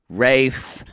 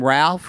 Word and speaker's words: Ralph: fine it is Ray fines right it is Rafe Vines but it wins in the U.S to people calling Ralph or do they call him Rafe I think you should be able to call